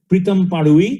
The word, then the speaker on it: Pritam Padui: This year it's being presented to Pritam Padui. That's the right pronunciation, though the spelling is a little different.